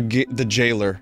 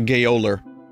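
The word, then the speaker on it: gaoler: Gay Oller, the jailer, the gayoler. I see what you did there. That's good. The gayoler. I see, because I mispronounced it.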